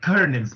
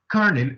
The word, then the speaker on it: colonel: That is the colonel's pride. colonel النطق بتاعها كده colonel مش colonel.